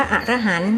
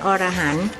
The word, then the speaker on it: อรหัง: พระ อรหันต์ และ ก็ ออก เสียง ว่า อรหัง ไม่ ใช่ อรหันต์ การ เป็น ครู พูด